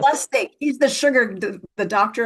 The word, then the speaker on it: Lustig: Is that how you pronounce his last name? Lustig, yes. Lustig.